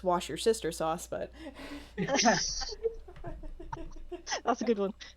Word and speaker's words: Worcestershire: okay red's asking a pronunciation how do you pronounce well it's not worcestershire for scott it's worcestershire it's worcestershire worcestershire according to my grandfather it's wash your sister sauce but that's a good one no worcestershire yeah